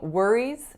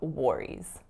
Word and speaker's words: worries: not very obvious so it looks intuitively more like war than like word because it's spelt wor but that's just not how this word is pronounced so make sure you're saying worries instead of worries that's